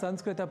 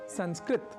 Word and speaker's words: संस्कृत: इसलिए हमें संस्कृत को संस्कृत न कहकर संस्कृत यानी त अर्थात तकार के बाद अ या आकार के प्रयोग के साथ उच्चारित करना चाहिए। इसी तरह हम जब राम,